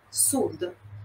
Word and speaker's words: sud: Nord, sud. Interrompe ali no D mudo, a gente não inventa a vogal ali. Mas, por exemplo, nord Itália, sud Itália, fica quase, né, uma pronúncia uníssona.